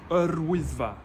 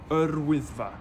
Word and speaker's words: Wyddfa: No pressure to get the pronunciation perfect, but try this. Wyddfa. Wyddfa.